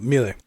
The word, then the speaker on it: Mille: first name is it Millie or mile uh melee melee okay so Creator 1990 um at the